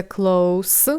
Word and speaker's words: close: разі небезпеки Подивіться уважно на це слово воно читається Close в кінці с перекладається як близько або близький